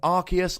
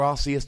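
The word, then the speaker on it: Arceus: form uh August 17th archus or arus depending how you want to pronounce it September the 14th Victini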